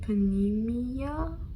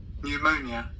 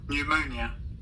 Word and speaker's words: pneumonia: So, my dad was diagnosed with panmia.